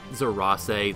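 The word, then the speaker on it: Zerase: I think about it zeras that's how the game pronounces it yes it worked go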